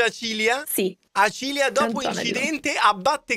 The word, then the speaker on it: Acilia: puoi anche farlo vedere Acilia si legge Acilia Sì Acilia dopo incidente